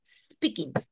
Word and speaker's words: speaking: No, la pronunciación correcta es speaking, speaking. ¿Ok? So, la E no tiene que sonar.